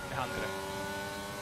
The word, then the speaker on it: Lahandre: We'll be seeing if Arrow, also known as Zero Lahandre, can do the same. Oh, is that how it's pronounced? Yeah, Lahandre. Okay.